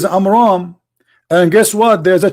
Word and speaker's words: Amram: You see how we close the name? Because Muhammad, he could not even pronounce it correctly. So the correct name is Amram.